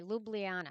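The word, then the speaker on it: Ljubljana: in in the first Auto suggestion is is pronunciation oh okay well Luby LU on H okay lublana I like that that's a pretty name so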